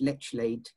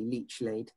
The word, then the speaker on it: Lechlade: So the four villages' modern names is East Leach Martin, East Leach Turville, North Leach, and it's actually pronounced Lechlade, but it's effectively Leechlade.